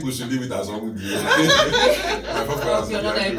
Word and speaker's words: Onwudiwe: Now please pronounce it with the accent. So it's called ONWUDIWE. ONWUDIWE.